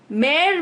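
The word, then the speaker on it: Mère: वास फॉर मे ग्रिंगो मेर Vij mother which is pronounced as मेर एंड ग्रिंगो इज प्रोनाउंसड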